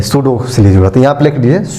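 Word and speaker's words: pseudo: देखेंगे कुछ और चीज सूडो य ख डोलस बोलते है सूडो की स्पेलिंग होता है पी से शुरू होता है स प साइलस होता एस ई यू डी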